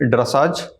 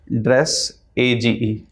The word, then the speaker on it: dressage: Dress, A-G-E. Dressage. तो फिर ड्रेसाज क्या हुआ? ड्रेसेज हुआ. Sir, pronunciation might be wrong.